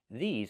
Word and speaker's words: these: These are cars. Not this is cars, but these are cars. Pronunciation. Make the long e sound like green beans. E. These plus the zz sound like zebra. These.